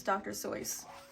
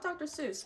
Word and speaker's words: Dr. Seuss: And yes, it is pronounced, the correct way of pronouncing it is Dr. Seuss. Not Dr. Seuss, but you can pronounce it however you want.